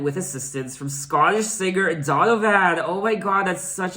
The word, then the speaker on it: Donovan: And I just realized that I've been mispronouncing his name. I've been saying Donovan. It's actually Donovan. Donovan, not Donovan.